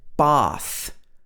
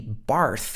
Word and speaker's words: bath: she said bath bath if this was in the american accent it would be bath it wouldn't be barth it would be bath this at sound again but in the british accent we have this long r sound very particular to british english another one that you